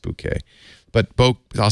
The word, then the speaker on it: bokeh: book that's because the bouquet I always say bokeh cuz I don't want you to think of a bouquet of roses but it's pronounced bouquet but both I'll say bouquet you know as